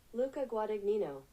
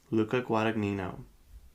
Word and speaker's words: Luca Guadagnino: How to pronounce Luca. Here we go. You ready? Luca Guadagnino. Luca Guadagnino.